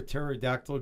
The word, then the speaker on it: pterodactyl: you can't hear a pterodactyl go to the bathroom why can't you hear a pterodactyl go to the bathroom the p is silent Jazz clap Jazz clap